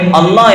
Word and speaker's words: അല്ലാഹ്: അപ്പോഴേ അല്ലാഹ് എന്ന് ഉച്ചരിക്കുന്ന ആ ഉച്ചാരണം ശരിയാകും.